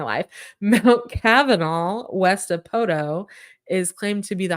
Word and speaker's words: Poteau: So Stacy called me one day and said, "Do you know who works in Poteau?" And I said, "Where?" She said, "Poteau." And I said, "Oh, do you mean Poto?" So she didn't quite know. That's how I pronounce it because there's another town called Shoto, which is spelled Chateau, and it should be chateau, which is the French word for castle or palace. But it's not. It's Shoto. So it's like the T is a D, and you just kind